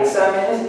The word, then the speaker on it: exámenes: ¿En cuál sílaba? Exámenes. Examen, en la A.